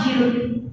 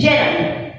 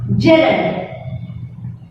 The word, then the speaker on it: gerund: It is not gerund. Okay? Please do not pronounce as gerund. It is not gerund. It is gerund. Please pronounce gerund.